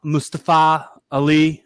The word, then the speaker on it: Mustafa Ali: profiled you know they're they're making sure to pronounce mustafa mustafa ali like that that pronounce they do connect correct